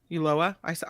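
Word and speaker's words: Ulloa: what do you say uyoa uloa ulolah you pronounce the L it's a double L you lower at least that's what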